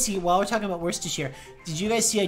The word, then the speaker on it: Worcestershire: while we're talking about Worcestershire did you guys see I tweeted it earlier the way that man on Tick Tock catastrophically mispronounced where's to share how to wash your sister sauce not an ethical experience